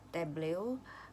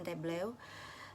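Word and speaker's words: Tableau: Ada dua di sini yang dibahas, yaitu Power BI dan Tablew. eh atau mungkin bacanya tableu ya.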